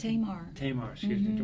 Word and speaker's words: Tamar: Is that how you pronounce it? Tamar.